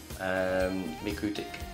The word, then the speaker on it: MikroTik: And I got a MikroTik, that's how you say it, MikroTik Cloud Smart Switch, the CSS326-24G-2S+RM.